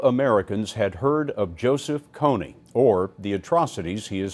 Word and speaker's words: Kony: guy's name I know it's not Cooney it's Coney and I did it